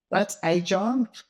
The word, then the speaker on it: AIgile: So look, that's Agile, that's how you pronounce it.